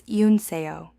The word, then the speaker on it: Yoonseo: "That's not Go," Go said quietly. "That's Yoonseo. She's saying Yoonseo unnie. Listen to the vowel. It's E U, not Go.